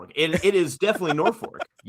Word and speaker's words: Norfolk: No, it's it's 100% Norfor and you're just incorrect.